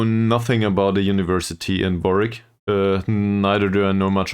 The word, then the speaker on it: Warwick: Oh no, it's pronounced Warwick.